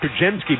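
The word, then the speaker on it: Podziemski: keep people hearing us say it it's it's pronounced psky but it's p o d z i e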